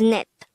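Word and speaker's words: 넷: character will have the t sound so it's pronounced as net how do we spell net in angle first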